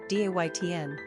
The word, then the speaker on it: Dayton: Pronunciation, Daytn.